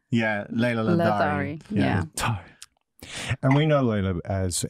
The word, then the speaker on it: Ladari: Maybe there's a soft D. Okay. Who knows? No, there actually is a silent H in the name, but I cut it out because who needs a silent H? Where you go after the D? Yes. Ah, yeah. Because it's like a the.